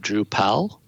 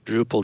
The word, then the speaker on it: Drupal: know several years um a lot of people said drew powell and those pronounced drupal drupal were kind of in the inner circle almost because we knew like when somebody said drew powell that they hadn't been involved with drupal for too long and a lot of